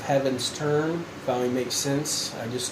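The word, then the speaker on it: Heavensturn: xi so for 11 11 years I've been pronouncing at heavens third term instead of heavens turn finally makes sense I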